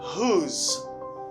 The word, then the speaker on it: whose: You say whose. Pas dim whose, dim whose. But many people say whose. It's not because they see this letter, which is W. W doesn't pronounce in this word.